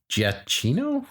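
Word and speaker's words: Giacchino: put your names giachino see it's not as jack you know yeah right so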